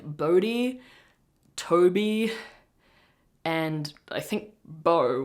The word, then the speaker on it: Bode: So the name the name 'Bode', like, verbally, is the Scandinavian spelling, so Denmark, Sweden, Norway, Finland, I think, which is "B-O-D-E". But in English it's pronounced 'Boh-dee".